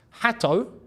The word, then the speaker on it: Hato: We got Jamie Gittins, Jorgensen, Asugo, Andre Santos, Hato, because that is how you say it.